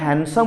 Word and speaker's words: handsome: ना जदि भूल थो करेक्शन करवा पिले टी हैंडसम वर्डटा देख लो से डीटा रेड कलर लिखाई कहीं कहल ना डीटा प्रोनाउंस हो ना आम ताको हैंडसम पढ़ुने हैंडसम